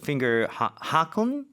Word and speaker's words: Fingerhaken: 그래서 so finger haken 이게 독일어로 하면은 발음 자체가 다르죠. It's like 그렇죠? in German it's like Fingerhaken.